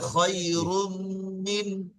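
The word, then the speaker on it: خَيْرٌ مِنْ: খয়রুম খায়রুম room তারপর দেখেন মিম নুন জের মিন, নুন সাকিনের পরে কি এসছে? হামজা এসছে, তাই না? হামজা তাহলে বিনা গুণায় জাহির করে জি পড়তে হবে। তাহলে খায়রুম মিন, খয়রুম মিন خير من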